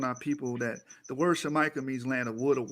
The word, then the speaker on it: Jamaica: not supposed to be pronounced jamaican that's a mispronunciation of the original land name shamika that's how you're supposed to say it i